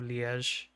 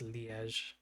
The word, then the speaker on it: Liège: And a varying composition loses 50 starting ammunition, but has been given a new Liège um I think that's how you say it. Liège? Liège? I think it's Liège um carbine as a starter item.